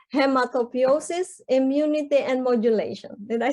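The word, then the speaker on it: hematopoiesis: Little did I know that it's actually, so this is difficult to pronounce. It's hematopiosis, immunity, and modulation.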